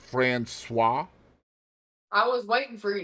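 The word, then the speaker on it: Françoise: passed away from cancer did you know that's pronounced franois I was waiting for you to say it yeah cuz Katie was Katie was gonna be like Frank Koy I was going to say Fran no that's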